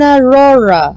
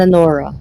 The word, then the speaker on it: Aurora: all the above ah in Aurora in Aurora not in aora I can't pronounce her name Aurora Aurora nor aora Aurora balis oh come